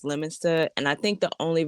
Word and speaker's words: Leominster: will say Leominster when it's Leominster, and I think the only reason it works for me is because I have a New York accent, and Yeah.